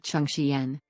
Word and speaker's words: Chengqian: Looked into it and it would be pronounced like Chengqian. Chengqian? Okay. So it would still, even if it's in the middle, it would still be the CH sound.